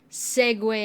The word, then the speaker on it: segue: I think it's a good way to sort of segue out of Aspara, even though my heart still hurts a little bit about that. You know. It's pronounced Segu.